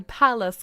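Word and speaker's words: Pallas: So this is spelled P A L L A S. So palace cat.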